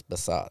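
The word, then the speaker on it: Behzad: It's easy to pronounce. It's I spelled B-E-H-Z-A-D. It's Basad. Basad.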